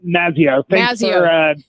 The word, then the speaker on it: Mazzeo: Yeah, close. It's Mazzeo.